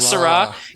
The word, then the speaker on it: Syrah: before it's very sweet is it Syrah Que Sera Sera a little too sweet for me I like my one more bitter Malbec or Merlot anyways so you know the song that's how you pronounce the the Syrah they're still completely differently so I'm not gonna make the oh yes sir all the whiners s-y-r-a-h where que sera seras s-e-r-a with an accent oh which means we'll